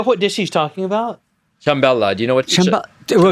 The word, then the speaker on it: Ciambella: Did you say Trimbella? Ciambella.